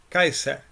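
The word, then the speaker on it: Caesar: O del Kaiser, como se diría en la pronunciación latina clásica.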